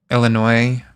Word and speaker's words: Illinois: Illinois pronounced with silent s.